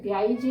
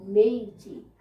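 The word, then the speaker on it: Meiji: Pronounce होने में ब्याईजी लगता है, पर यह है मेइजी। मई जून जुलाई वो वाला मेइजी।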